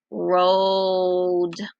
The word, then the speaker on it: rolled: Rolled. Very good. What sound do you hear at the end? Did you say D? Yep, I hear Dippy Duck.